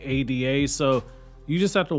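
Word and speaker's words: Eida: the episode comes out it's very similar to how ada is spelled e-i-d-a in the manga when it's really supposed to be ada so you just have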